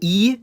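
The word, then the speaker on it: и: It's called E, and it sounds like E or I.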